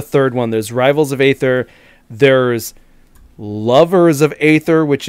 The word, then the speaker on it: Aether: Aether. Aether. Aether. The A is silent.